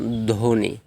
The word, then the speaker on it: ধ্বনি: চার নাম্বার রুলসটা দেখুন শব্দের শুরুতে ব্যঞ্জন বর্ণ প্লাস ব হলে ব অনুচ্চারিত হবে যেমন ধ্বনি আমরা কি বলি ধবনি